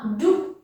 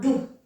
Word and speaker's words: jdu: the Czech language, that when we have a J followed by a consonant at the beginning, we usually don't pronounce that J. It's not necessary and not common. Já jdu.